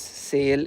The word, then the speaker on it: Sale: This store's name is sale in English, but in Finnish it is pronounced sal.